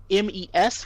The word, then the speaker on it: mes: So de is another pattern, which is when you have a little small 3-letter word that ends in es, the es is going to sound like e. So you mentioned mes amis, mes, which is my friends, right?